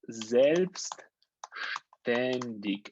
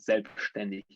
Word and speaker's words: selbstständig: So we have this word selbstständig, and let me make it a little bit bigger, or a lot bigger, like this.